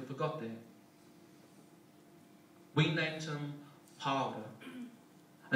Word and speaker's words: Paora: We named him Paora, just to piss off every teacher who can't roll their R's.